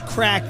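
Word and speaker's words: craic: happen in the US the word is crack Tony C r a i c crack which is a whole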